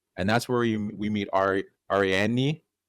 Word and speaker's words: Ariadne: that's where we meet Ariadne. How do you say her name? Ariadne, yeah. Ariadne.